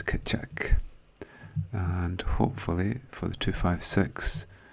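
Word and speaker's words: Keccak: and the hashing function that we use is pronounce kitchak 256.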